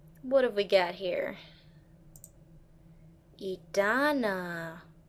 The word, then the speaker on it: Edanna: have we got here edana or edonna i believe it's pronounced edonna once again the lazy